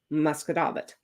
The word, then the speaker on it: Musquodoboit: way it's spelled, is Musquodoboit. And it is spelled mosquito bit, but it is pronounced Musquodoboit.